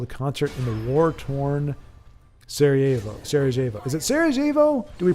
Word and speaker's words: Sarajevo: Baldric says, when we're mentioning Sarajevo, I would like to recommend a documentary movie about it. Scream for Me, Sarajevo.